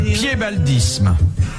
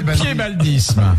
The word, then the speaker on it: piébaldisme: Qu'appelle-t-on le piébaldisme? Le quoi? Le piébaldisme. C'est pas le fait d'avoir un pied beau. Non, ça s'écrit P-I-E-B-A-L-D-I-S-M-E.